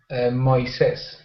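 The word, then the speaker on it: Moisés: Moises welcome to class Moises how's it going hello fine I'm doing well thank you for asking um and whates am I pronouncing your name correctly um Moes in Spanish okay Moes well so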